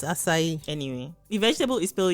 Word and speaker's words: acai: acai or acai yeah say is no there's a little s at the under the sea oh my god it literally tells you pronounce me as an s acai i feel like you